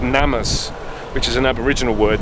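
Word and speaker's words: gnammas: name from there called I think the G is silent called NamUs which is an Aboriginal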